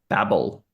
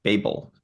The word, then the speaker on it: Babel: of Deep Space 9 babble or Babel people pronounce it differ episode five fifth episode